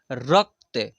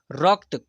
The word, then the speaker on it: रक्त: 74 पढ़ेंगे ठीक है यहां पर देखिए र यहां पर आधा क है और त है रक्त रक्त क का उच्चारण हो रहा है रक्त पढ़ेंगे फिर यहां पर देखिए